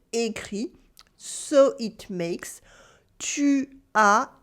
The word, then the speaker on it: écrit: The past participle for écrire is simply écrit, written with a silent T at the end, écrit.